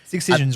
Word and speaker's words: Excision: I mean, you think about Excisions, right? Excision's label, yeah. So Wait, how like do you pronounce it?